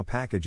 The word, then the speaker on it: package: accent or stress is in this case the accent is in the first syllable corresponding to pack below are other ways to pronounce it now let's see how package is used in real